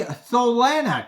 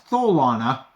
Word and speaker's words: Tholana: And I guess it is Mike Tyson pronouncing Solana, which is Tholana.